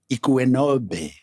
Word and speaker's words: Ikuenobe: Yeah, and then how do you pronounce Ikuenobe? How do I pronounce Close that? enough. Just assume the U for a W and then you get it right.